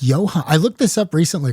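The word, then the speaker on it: Ioan: And I think it's Johan. It's just spelled, I don't know, not a way I would pronounce Johan.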